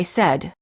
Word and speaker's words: said: The verb say is pronounced with an S sound in the past tense and in the present tense when it is followed by an S.